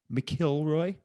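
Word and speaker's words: McIlroy: the island next door rory mcelroy is pronounced mckilroy all right all right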